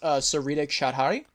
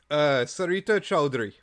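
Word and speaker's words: Sarita Choudhury: I believe her name is pronounced Sarita Chowdhury. Sarita Chowdhury.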